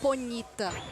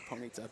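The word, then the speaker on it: Ponyta: Going on a quick tangent here, I pronounce it Ponita.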